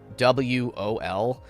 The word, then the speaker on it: Joel: It's rough because I know their name isn't spelled like regular Joel, even though this is Joel. It's Jowol.